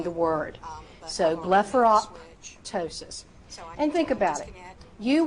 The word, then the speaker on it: blepharoptosis: So the word blepharoptosis. Blepharoptosis. Now you do not have to pop that P in the middle, but I do want a slight P sound when you are saying the word. So blepharoptosis.